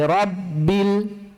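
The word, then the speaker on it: رَبِّ: Du, alhamdu alhamdulillahi rabbil Bagus. 'Ro' dibaca penuh/tebal, ya. 'Ro ' dibaca 'rabbil'. Huruf 'r' dibaca penuh, bukan tipis.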